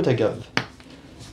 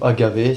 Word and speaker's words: agave: allez mettre donc du sirop d'agave ou Agavé ça dépend comment vous le prononcez et vous allez mettre